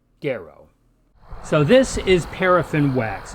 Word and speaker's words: gero: In classical Latin Kiko the letter G is always pronounced hard as it is in the English word gap so this Latin word which means I bear or I wear is pronounced gero so this is paraffin